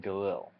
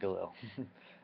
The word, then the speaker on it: Galil: hammer RPD and then Galil Galil I pronounce it Gil anyway and um that's